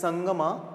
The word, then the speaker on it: Sangama: It is written as Sangama, but it is to be pronounced as Sangam, from 1336 to 1485.